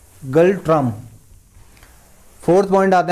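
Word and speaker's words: Ngultrum: इसका है N silent है तो गल्ट्रम बोलते हैं इसको। ठीक है, गल्ट्रम।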